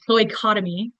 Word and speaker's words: cloacotomy: Cloacotomy is the way they pronounce that word.